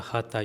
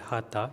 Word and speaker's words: Hatha: So first things we generally say the Hatha is not the word Hatha, it is the word Hat. So it's Hat Yoga, but to make the pronunciation clear or sometimes to make the pronunciation easier actually we say Hatha Yoga.